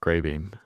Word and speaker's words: Greybeam: about you and about Greybeam? They can go to our landing page, grreybeam.ai. A I that's spelled G R E Y. Uh and it's beam like light beam, not the the food bean.